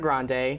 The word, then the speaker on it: Grande: ariana grande herself but grandi is how her grandfather pronounced it so I I understand